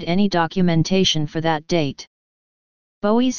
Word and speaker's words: Bowie: Bowie's surname was pronounced to rhyme with the French Louis, slash B slash Bowie. Although some works refer to the alternate pronunciation slash Bowie slash Bowie.